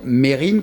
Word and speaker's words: Mesrine: Figurez-vous que Jacques Mesrine, quand on devrait dire Mérine, comme disait Vincent, c'est la vraie prononciation, mais moi je préfère Mesrine parce que ça claque plus.